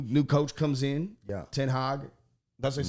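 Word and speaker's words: ten Hag: you know new new coach comes in yeah tin hog that's what they say let's say his name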